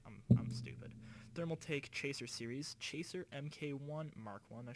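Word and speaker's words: Thermaltake: don't know thermal take oh thermal take that's how you say it all right I'm I'm stupid thermal take Chaser series Chaser MK1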